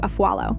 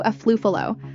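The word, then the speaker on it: Afualo: They even tried to come for Drew Aallo. Yeah, Drew. The queen of Tik Tok clapbacks. One of the guys purposely mispronounced her last name, calling her Drew a fluo like it was some kind of joke.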